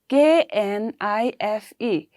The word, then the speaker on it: knife: given in knife see k-n-i-f-e we have k here right but while pronouncing we say knife right see if i block